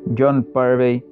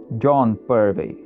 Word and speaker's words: Purvey: Aí então logo acima você tem a pronúncia do nome dele em inglês britânico, John Purvey, e no meio tem a pronúncia em inglês americano, John Purvey, e logo abaixo a pronúncia no português do Brasil, João Purvey.